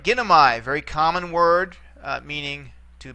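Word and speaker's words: γίνομαι: All right, in this case, the AI ending here is going to be short for purposes of accentuation. Okay, this is one of the short diphthongs. No, gi. So you got three syllables here. 1, 2, 3 back. This is where we'd accentuate it.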